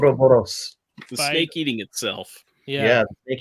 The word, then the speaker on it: Ouroboros: How do you say that? Aurora Boros. Yeah, the snake. Ouroboros.